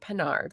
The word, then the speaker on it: Pinard: PINARD, like Captain Picard, in case anyone's wondering how to pronounce it.